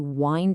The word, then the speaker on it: wind: the verb is to wind it up. But you have to pay really close attention to the pronunciation. This wind rhymes with find. It's not like the wind that blows outside.